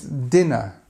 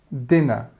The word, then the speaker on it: dinner: of people get this word slightly wrong in pronunciation it's dinner dinner um the Americans use this word to talk